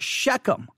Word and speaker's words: Shechem: tree of Mora at s h e c h e m typically it's pronounced shechem right sichem shechem all